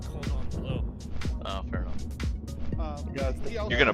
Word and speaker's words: cordon bleu: It's not fancy because you're pronouncing it wrong. It's cordon bleu.